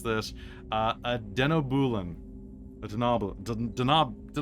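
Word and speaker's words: Denobulan: All right, an 8 is gonna give us I can never pronounce this. A denobulin. A Denoblin?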